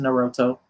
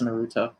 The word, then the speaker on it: Naruto: So with that being said, man, make sure y'all go out one last time, get that probably mispronounced like I mispronounced Naruto. I know it's Naruto.